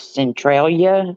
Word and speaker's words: Centralia: being in what's the name of that place Centralia s that's how you say it Calia yeah